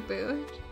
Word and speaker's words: Boot: They also pronounce it like boat, but they just mean to put the O. That the O. They just put the O to mean that the O noise is longer.